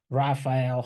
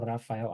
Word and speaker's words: Raphael: so my name is Raphael if you if if you're gonna talk to me later you can say rapael hael Rafael I don't care it's fine okay it's